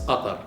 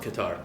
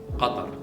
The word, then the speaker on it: Qatar: So the name of my country, for example, is Qatar, not Qatar. Okay. This is how we pronounce it. Qatar. There is qa. So qa comes from here, very hard.